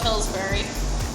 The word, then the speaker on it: Pillsbury: Gotta love Pillsbury. It rhymes with blueberry. It does rhyme with blueberry.